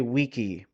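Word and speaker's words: VICI: to honor them and I will say weaky because you know what that's the proper way to say it in Latin it's sitting at 302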